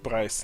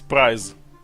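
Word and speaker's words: prize: Прайс. Нет, не прайс. Прайз. Приз, а не цена.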